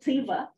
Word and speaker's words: Tyva: And then Tuva, and they like to pronounce it Tyva, on the border with